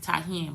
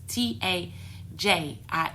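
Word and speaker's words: Tajín: But Tahin, you pronounce it Tahin, but it's like, if you read it, it's Tajin, and you can get it in the dollar store.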